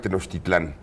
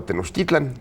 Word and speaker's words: Tenochtitlan: Es decir, de niño yo aprendí que esto era la gran Tenochtitlán. Sí. Pero después Octavio Paz me puso de moda Tenochtitlan.